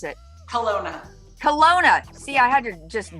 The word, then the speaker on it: Kelowna: the one and the only tammy cunningham from kilauea kelowa kelawana how do you pronounce it hellona kelowna see i had to just jack it up and make it so different kelowna british columbia welcome thank you thank you so